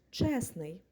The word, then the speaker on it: чесний: утворюємо від нього прикметник і логічно було чесний але погодьтесь це важко вимовити і тому літера Т випадає і виходить прикметник чесний що ж давайте перейдемо